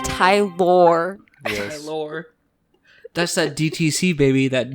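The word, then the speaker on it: Tylor: wrong let's hear it it's Tyler but it's spelled okay oh yeah t y l o r it's Tai lore that's that DTC baby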